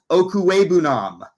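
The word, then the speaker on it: Okwuegbunam: for Albert o um nobody still can pronounce the last name as the broadcaster still continue to just say Alberto um I will say Albert okue Nam probably the last time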